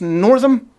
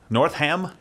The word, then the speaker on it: Northam: a new governor Ralph is it pronounced Northam north ham no no and basically endorsing infanticide